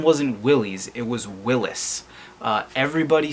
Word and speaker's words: Willys: name but in fact willys-overland was Willis overland I think Willy sounds better than Willis so I'm gonna say Willy's but just know that we're all saying it wrong Willy's Overland answers this bid